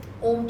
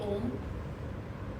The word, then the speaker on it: Om: A lot of people do it differently, but the way we concentrate and do the Om is that the O should be short and the Ma should be long.